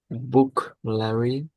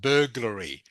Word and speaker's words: burglary: Bookary, go and robbery. Okay. This here is pronounced burglary.